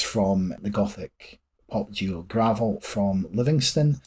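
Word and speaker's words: Gravelle: the gothic pop jeel gravel from Livingston it's spelled g r a v e l l e but is pronounced like the dirt as they say on their social media Monique Mor provides vocals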